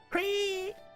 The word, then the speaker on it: Cree: And his name isn't just Cree, it's actually like a bird sound, like Cree.